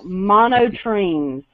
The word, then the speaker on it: monotremes: what is okay i probably said it wrong monotremes it's m-o-n-o tr what t-r-e-m-e-s mono trains first